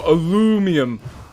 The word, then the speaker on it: aluminum: a sec as a we say aluminium yeah Americans go alumium um God I can't